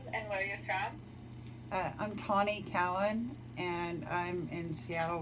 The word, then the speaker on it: Tawnee: So it's Tawny. Tawny. Yeah, it's like Shawnee Indians, but you drop the SH and you put a T, so it's Tawny.